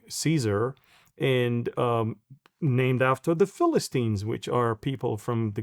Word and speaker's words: Filastin: would choose originally, because it's hard to pronounce the letter P. That's why they're always Yeah. use the F, the Philistine in Philistinian, all of that.